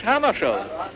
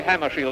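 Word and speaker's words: Hammarskjöld: Well, I pronounce it myself in Swedish Hammarskjold. But if you say Hammarskjold, that's all right with me.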